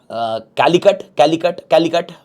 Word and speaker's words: Calicut: How we pronounce it? It is basically Calicut.